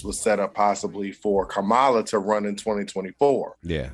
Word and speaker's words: Kamala: So I do want to make a slight correction because I was joking at first, but just so we know, it's Kamala. That's how you pronounce my fault.